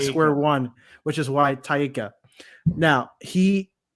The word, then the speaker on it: Taika: I'm back to square one, which is why Taika. Now, he said this in an interview with Tessa Thompson. He's pronouncing all of the vowels and he's not adding anything else in.